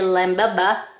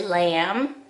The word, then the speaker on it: lamb: color on my lamb you don't say limb no you say lamb and i'm gonna color